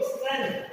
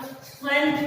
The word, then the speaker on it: strength: स्ट्रेंथ का मतलब होता है विद्यार्थी मित्रों, स्ट्रेंथ, STRENGTH। इसमें विद्यार्थी मित्रों जी साइलेंट है, साइलेंट यानी इसकी आवाज हमें नहीं निकालनी, इसका उच्चारण हमें नहीं करना है। स्ट्रेंथ पढ़ेंगे, जी नहीं पढ़ेंगे,